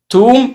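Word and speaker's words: tomb: توم اخرها بي سايلنت لا ينطق.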